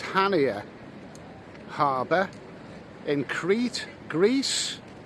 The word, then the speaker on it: Chania: okay so i'm actually a pronounced hania harbour in crete greece it's been a bit